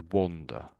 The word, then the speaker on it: wander: So it's more of an ah. The O there is really making an ah sound. Wonder. Under. And wander. So do you want to just say both of them?